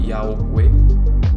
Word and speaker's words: Yahweh: Javé, que é pronunciado Yahweh.